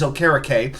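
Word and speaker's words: Okereke: you you've got Bobby Oar and I I've heard about nine different ways to pronounce it but apparently it is okar number 58 he has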